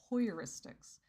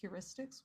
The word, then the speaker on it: heuristics: to do it because I kept pronouncing it hoyeuristics um just because the way that I had to move my mouth to pronounce heuristics was to it was too exaggerated for me and it just kind of made my jaw feel weird so I just said well I'll just do hoyeuristics um and so when somebody